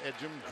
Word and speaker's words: Ejim: It's E-G-I-M. Pronounced Ejim.